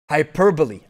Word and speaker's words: hyperbole: is awesome uh gregory it is pronounced hyper with stress on the per hyperbole hyperbole right yup yup getting